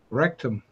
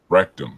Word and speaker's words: Rectum: Rectum. Rectum. That's what I thought. Yeah. It's pronounced the same. It means the same.